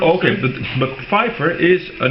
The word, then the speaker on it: Pfeiffer: It's Pfeiffer. Okay, but Pfeiffer is a name based on this German dialect, and the same name exists in Dutch.